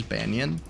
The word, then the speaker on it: Banyan: My name is Banyan, which is spelled B-A-N-Y-A-N.